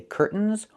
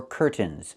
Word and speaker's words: curtains: This word has two pronunciations. I can say curtains or curtains. But don't say curtains. It's curtains with a real t. Curtains. Or I can use a stop t and say curt. Stop the air. Put the tongue up. Curtains. And go directly to the n. Curtains. So curtains or curtains. Both pronunciations are correct.